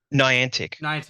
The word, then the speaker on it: Niantic: I'm gonna stuff up pronouncing it. Niantic. Niantic, actually, which actually actually laid off a whole bunch of people today, and I'm pretty sure it canceled 2 projects.